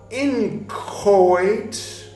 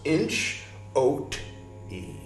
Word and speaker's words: inchoate: And then the second half of the word is OATE, like oat, with an E at the end. So inch, oat, E. Inchoate.